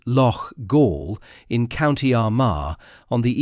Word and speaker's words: Loughgall: The comment asks the reader to feel nothing for eight IRA volunteers who died in the village of Lo Gaul, pronounced Lo Gaul in County Armar on the evening of Friday 8th May 1987.